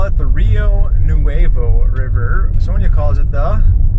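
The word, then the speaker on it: Rio Nuevo: noo R yeah but I know how you guys pronounce it but it's actually a Spanish word it's Rio noo AA River nobody knows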